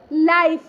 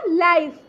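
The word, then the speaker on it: life: उच्चारण आई होता है और अंतिम ई का अपना कोई उच्चारण नहीं होता है जैसे कि देखिए हम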